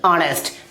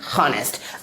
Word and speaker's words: honest: अगला example HONEST, क्या पढ़ेंगे इसे ऑनेस्ट ना कि हॉनेस्ट।